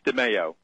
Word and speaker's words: DeMeo: Am I pronouncing it right? Good morning, Megan. Thanks for having me on your show. It's DeMeo.